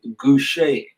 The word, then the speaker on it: Gouche: Our guest this week is no other than, he's been titled as the godfather of gospel bass players, no other than Andrae GOUCHE.